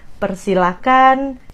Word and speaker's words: persilakan: Jadi, silakan, persilakan, jangan pakai H, itu dari pronunciation-nya.